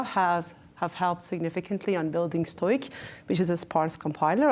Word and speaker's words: STOIC: I'm not sure how to pronounce the first. Stoic or Stoic. Stoic.